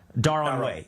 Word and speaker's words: Darod: Is Ilhan Omar advantaged in getting Somali votes in Minnesota because she is Darod?